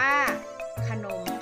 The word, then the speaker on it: ขนม: ว่า ฉลาม ค่ะ คำ ว่า ขนม อ่าน ว่า ขนม ค่ะ ตัว อย่าง ของ คำ อักษร นำ